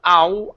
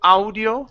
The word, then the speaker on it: audio: next up is audio instead of OWL audio it our audio audiobooks add your hooks good